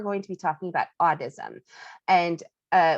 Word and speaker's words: audism: to be talking about audism and uh what i mean by audism is a-u-d-i-s-m i'm not saying it wrong that's how it's actually supposed to be said um autism is the